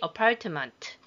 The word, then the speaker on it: apartment: apartment에서 t는 발음을 안 합니다.